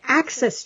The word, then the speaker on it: AXS: Yes, Access Chat. But it's spelled like Daniel said.